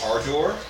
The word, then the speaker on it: Ardor: They have a new record out called Ardor. Ardor. Ardor. Yeah. So isn't that with an E then? A-R-D-O-R. Okay. Ardor. Kind of rhymes with harder, I guess.